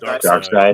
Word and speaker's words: Darkseid: Darkseid.